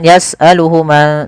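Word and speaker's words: يَسْأَلُهُ: Maka hunya di sini panjangkan. Jangan yasaluhu tapi panjangkan dulu. Di sini ada tandanya dengan wau kecil.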